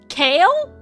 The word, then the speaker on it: Kale: kale I'm sorry kale I had to look up how to pronounce this it's freaking kale okay this is the worst name possible Kale like the vegetable like the leaf kale kale is a